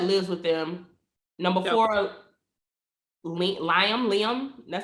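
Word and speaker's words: Lymon: Number four, Liam. That's how you pronounce his name. Lyman.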